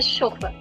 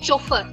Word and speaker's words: chauffeur: first and foremost observe we are not saying chuffer which means that the French pronounce ch as sh wherever you see ch in is pronounced as sh.